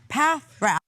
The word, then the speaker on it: Paffrath: You know, I love it because I'm on your website, and one of the very first things it says is Kevin Paffrath, pronounced Paffrath.